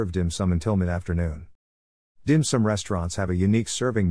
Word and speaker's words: 點心: shortened to diane sin of which dim sum is the cantonese pronunciation came to represent dishes